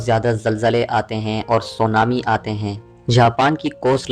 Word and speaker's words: سونامی: Earthquake جیسی وجہ سے۔ لفظ سونامی تلفظ سو نا می سے مل کر بنا ہے۔ جاپانی الفاظ سو جس